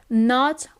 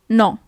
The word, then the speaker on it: no: No is no. Okay, so you actually write it as in English, but the pronunciation is a little bit different. It's not no, but it's no.